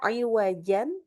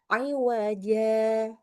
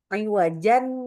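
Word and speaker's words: عوجا: Kalau wakaf saja kita bacanya tentunya dengan mad iwat. Bacanya iwaja gitu ya. Nah, kalau saktah di kata tersebut maka kita juga sama bacanya seperti kalau waqaf bacanya dengan iwaja. Fan nulisnya juga salah nih ya. Salah copy kayaknya. Oke. Jadi bacanya sama dengan pakai mad iwat juga ya, tidak dibaca dengan ee apa iwajan gitu.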